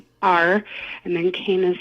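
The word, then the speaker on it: Tonier Cain: Somebody that I have listened to multiple times, her name is Toni or Kane, Tonier, and then Kane is spelled Cain.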